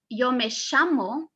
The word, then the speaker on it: llamo: the countries that use yomo with the pronunciation of the double l super super marked are from argentina from uruguay and from paraguay okay the difference between